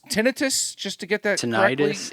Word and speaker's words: tinnitus: Just to get that Tinnitus. correctly. Tinnitus. I wasn't 100% sure how to pronounce it.